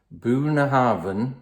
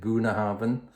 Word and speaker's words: Bunnahabhain: the last few months buna Harvin that's how you pronounce it buna Harvin twelve years old it's